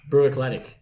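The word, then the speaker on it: Bruichladdich: Bruich Lodich. Brew Eclectic.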